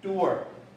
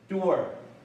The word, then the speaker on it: doer: 念耳，所以这个念 doer， doer。